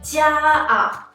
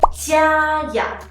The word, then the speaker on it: 家呀: When we say it, we don't say 家啊, we say 家呀. What I'm adding here is e sound.